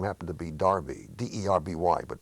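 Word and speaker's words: Derby: ship whose name happened to be Darby de rby but pronounced RB turned to me and he said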